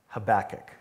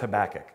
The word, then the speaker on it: Habakkuk: already identify with the book of the prophet habakkuk and by the way pastor chris and i